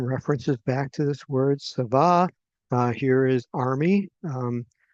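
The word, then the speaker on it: צָבָא: It's pronounced um savah.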